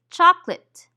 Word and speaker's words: chocolate: casual speech for example when we say the word chocolate we usually eliminate the syllable that contains the schwa go ahead say chocolate how many syllables did